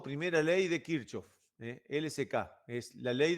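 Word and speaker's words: Kirchhoff: de corrientes de kirchof alguno le dice kirkov pero yo le digo kirchof porque lo aprendí así y le dije Es difícil que me vuelva a cambiar Cómo Cómo se pronuncia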